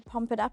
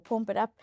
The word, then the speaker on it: Pump It Up: view that number 10, Pump It Up or Pomp It Up, I know which one, uh, is correct and I'm just, um, joking about the other one. Pump it up is correct pronunciation.